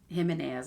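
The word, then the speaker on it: Jimenez: is actually an Abby himas I think it's how you say it but it's spelled j i m e n e z I've read two other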